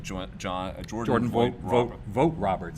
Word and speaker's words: Vogt-Roberts: where does it joint John Jordan boy wrote vogt-roberts vote properly that's how it's pronounced yeah vote Roberts is gonna be making a Metal Gear film